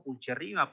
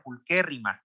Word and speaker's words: pulcherrima: pulcherrima no se pronuncia pulcherrima porque la che, pues en latín se pronuncia como que, entonces tiene que ser Euphorbia pulquérrima, y porque además hay esdrújulas y graves, ¿no?